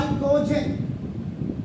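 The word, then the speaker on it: chalcogen: आपका करते हैं कार कालकोजेन कार्ल को लिखते इसको चालकोजेन है लेकिन प्रोनाउंस इसको करते हैं कालकोज बिकॉज़ मेनी ऑफ़ द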